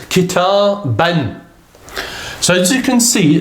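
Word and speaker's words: كتابًا: letter ba here, and then there's an alif, but that's not pronounced. That's only for the purpose of writing. So the word itself is kitaban.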